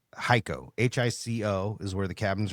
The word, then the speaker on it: Hico: We're actually by, do you pronounce it Hico? It's Hico.